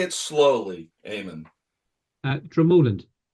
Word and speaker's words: Dromoland: So, I'm lucky enough to be the director of golf here at Dramolan Castle. Dramallan Castle.